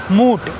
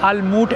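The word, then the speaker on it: MUT: एमयूटी लोग इसको मूट या अलमूट ऐसा कुछ प्रोनाउंस करते हैं यहां पे। भाई साहब क्या शानदार बिल्डिंग लग रही है। दो बड़े-बड़े टावर है। ये देखिए। अलमूट नहीं मैंने अभी किसी से डायरेक्शन पूछा उसने लामूट बोला लाूट या एमयूटी कुछ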